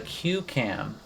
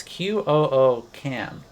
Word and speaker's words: QCam: this new camera and it's called the QAM or maybe cam I'm not really sure how you say it it's Q Cam and it's all one word so Q Cam and